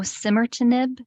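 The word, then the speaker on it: osimertinib: if you take um this patient takes a simmer to nib I don't know if I'm pronouncing that right listen yeah try that again oh simmer to nib o-s-i-m-e-r yes got it got it yes and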